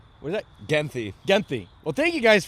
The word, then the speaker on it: Genthe: Genthe. What is that? Genthe.